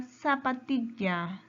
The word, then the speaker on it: zapatilla: La palabra zapatilla. Zapatilla. Su mayor fuerza de voz está en ti. Es una palabra grave.